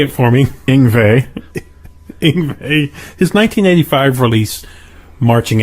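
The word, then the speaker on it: Yngwie: Ingvey.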